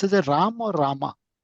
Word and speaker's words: Rama: In Sanskritam the akara should be pronounced. It's Rama.